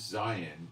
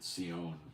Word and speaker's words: Zion: thee an outcast, saying, this is Zion, or Sion, correctly pronounced.